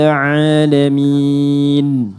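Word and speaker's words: عَالَمِين: Alhamdulillahirabbil alamin. Alhamdulillahirabbil alamin. Oke, ada ain alamin. Alamin. Oke, sedikit saja. Kalau kita a dengan a itu sakit alamin orang-orang sakit. Alamin semesta alam.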